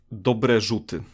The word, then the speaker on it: Dobre Rzuty: one right oh yeah yeah so it's it's dobre jute yeah pretty well pretty nice yes okay yeah